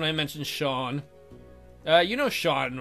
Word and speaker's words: Sean: You know Sean, right? And why is Sean not pronounced seen?